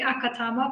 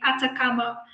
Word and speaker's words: Atacama: acronym it's act so i naturally say akatama but it's actually the atacama cosmology telescope so there